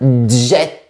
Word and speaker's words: jet: Mais pour certains mots techniques, j'ai bien réfléchi et j'ai trouvé pertinent de garder la prononciation du t. Par exemple, on dira un concept et un impact. De plus, il y a beaucoup de mots qui viennent de mon cousin anglais que j'ai voulu distinguer. Par exemple, un kit, un jet, internet, mais on dit un